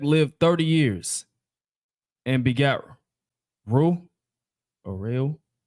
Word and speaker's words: Reu: And Peleg lived 30 years, and begat Reu, or Reu. How do you say that? R-E-U? Rule. Reu.